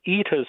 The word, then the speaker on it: Ita: Ita's well, sometimes pronounced Ita, or there's an old-fashioned named Ida.